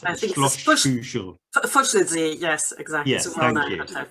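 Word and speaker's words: Fuschlsee: So there's a hotel on a lake in Austria, which is called I'm going to mispronounce it. I think Schloss Fuschel. Fuschelsee, yes, exactly. Yes, thank you. Fuschelsee.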